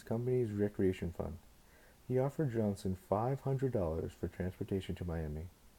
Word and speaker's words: Johnson: Bokennon was a pronunciation given the name Johnson in the English dialect.